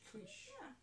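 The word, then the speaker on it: Keusch: Is it Kush? Kush? Kush? K-E-U-C. K-E-U-S-C-H. Kush.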